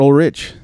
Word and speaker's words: Ulrich: Is it Ulrich or Ulrich? It's Ulrich. Oh, good. All right. So you said it right. Fantastic. I've been thinking about it all day, and I forgot to even ask you. So perfect. I'm glad I said it right. I think people say it back and forth, and I don't even pay attention anymore. I say it Ulrich.